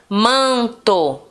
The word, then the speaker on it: manto: Por exemplo, ó, manto, manto. O man é o mais forte. É a sílaba mais forte, tá?